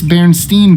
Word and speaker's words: Berenstain: Many think it's Berenstain Bears, with EI, which is fair. That's usually how it's pronounced.